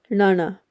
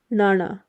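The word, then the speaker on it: ਣਾਣਾ: letters but it's pronounced Nana so you flick your tongue from the roof of your mouth down almost touching the your bottom teeth Nana and if you're having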